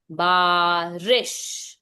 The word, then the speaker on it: बारिश: अच्छा दिशा what did यू से इज इट बारिश और बारिश मैम बारिश बारिश इट्स नॉट रीश इट्स रिश बारिश ठीक है ये ऐसे प्रोनाउंसिएशन होता है शॉर्ट साउंड बारिश के पानी इज